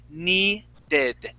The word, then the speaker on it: needed: The D's in English, okay? English D's, okay, feel like Spanish R's. Okay, so you hear how I say needed, and it's kind of like saying ere. Okay, you hear how my tongue is hitting. It's hitting the top of my mouth. I say ere and needed.